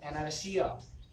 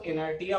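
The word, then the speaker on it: inertia: हम लोग moment of इनर्शिया। कुछ बच्चे इसको इनर्टिया पढ़ते हैं, गलत पढ़ते हैं, ये प्रोनाउंसिएशन नहीं है, इनर्शिया पढ़ा जाता है, इनर्शिया बट नॉट इनर्टिया, ठीक है।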